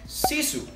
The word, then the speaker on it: Sisu: it is pronounced according to therese it is pronounced sisu also by cloeta the same company as that